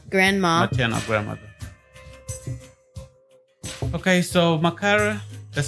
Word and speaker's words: Makara: Okay, so Makara, that's how we pronounce it.